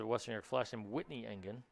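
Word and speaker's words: Engen: western flash named whitney engine spell a little differently but pronounced exactly the same oh this is done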